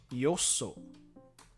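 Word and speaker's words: 他所: But the pronunciation is yoso. Yoso for another place instead of ta for the first kanji, which when does that actually come up?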